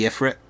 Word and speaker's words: Ifrit: Like right now I've got a little Babby Ifrit. He's going to become a big Ifrit eventually. And I know it's pronounced Ifrit, but a childhood of pronouncing it Ifrit has scarred me.